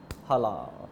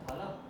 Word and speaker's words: Hala: हला। हला, हाला? अरे हला, स्पेलिंग HALA।